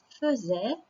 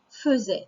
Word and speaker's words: faisait: Mais donc, on prononce ça lui faisait. C'est l'un des seuls mots qui est comme ça. Il y a écrit faisait, mais on dit faisait.